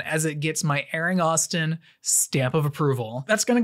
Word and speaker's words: Austin: reviews my name is Austin rhymes with I guess Boston it's a place they're